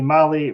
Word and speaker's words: Mahle: And for our podcast listeners, Molly is spelled Mahle.